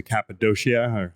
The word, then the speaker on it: Cappadocia: We went to Cappadocia, if I'm pronouncing that correctly. Yeah, Cappadocia.